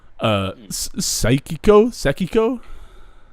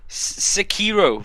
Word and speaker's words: Sekiro: Sekiko? The Sekiro. Sekiro. That sounds better than whatever I was trying to say.